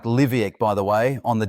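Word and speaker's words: Leveque: The current forecast has it making landfall around Cape Lec. That s pronounced more like Liviac by the way on the Dampia Peninsula in the Kimberly region.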